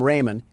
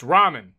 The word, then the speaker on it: ramen: Door Dash is on its way to deliver some Raymond, and I don't want to spill any around the pyramid floors. Uh, it's pronounced ramen.